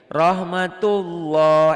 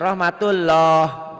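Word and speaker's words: رحمة الله: Rahmatullah, L-nya 1 dibacanya. Jangan rahmatullah. Nah, itu jadilah orang-orang di sana ya.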